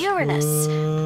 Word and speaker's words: Uranus: No jokes about Uranus. No me quito vida al bajar, así que. Besides, the proper pronunciation is Uranus. It's a dactyl.